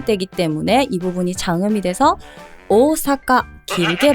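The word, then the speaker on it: 大阪: 가는 여지 중에 하나 오사라 하죠 이것도 아니에요 오사카 오사카 앞에 오오가 두 개 반복이 되기 때문에이 부분이 장음이 돼서 오사카 길게 발음을 해야 되는 거예요 그리고 또 여러분들이 좋아하는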